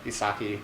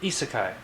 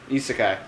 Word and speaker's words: isekai: Isekai. Isekai. There we go. Yeah, I've been saying it wrong for a while. There we go. It's That was good our to- last Japanese word. It's Isekai.